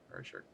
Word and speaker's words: Rorschach: Is that how you pronounce it? Rorschach? Rorschach. Yeah. Yeah. That's it. That's totally it.